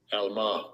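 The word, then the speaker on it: עלמה: Let's see if I'm saying it correctly. Strong's H 5959. Alma. Alma. Okay, so I was even saying it wrong.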